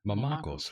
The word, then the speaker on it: Mamakos: Mamakos, Mamakos. right? It's Greek, I've been pronouncing your name correct this whole time.